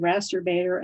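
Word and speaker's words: Rasterbator: i prefer is called rasterbaiter and yes it does rhyme with the word you all know and then in fact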